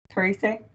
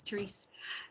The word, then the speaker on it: Therese: Teresa. Sorry if I'm saying your name wrong. Teresa? Yeah, hi, this is Therese.